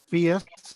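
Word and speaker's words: PHIUS: adult textbooks and uh the p-h-i-u-s certified builder is that how you say it fiesth is the acronym yep yeah so he has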